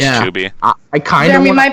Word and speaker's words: Chubymuffin: Yeah, it's technically pronounced Chuby. I just get so annoyed with saying Chuby for some reason that I just say Chubby. I'll be real with you. I'm just gonna say Chubby, even though I know it's Chuby.